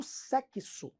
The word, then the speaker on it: sexo: ela falava assim eu sou uma profissional do sexo essa menina sabia do dífono ela falava do